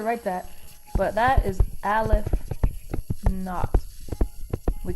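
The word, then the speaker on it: aleph-naught: But it's pronounced Aleph not.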